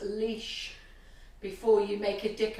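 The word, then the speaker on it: Laois: It's pronounced leash before you make a dick of yourself.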